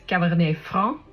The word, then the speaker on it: Cabernet Franc: well if you're yes if you're French it's cabernet from without the C Allison does a lot